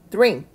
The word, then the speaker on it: drink: 그리고 마신다의 drink, drink. 크는 세게 크 하지 않는다고 했습니다. 흘려서 남아있는 발음으로.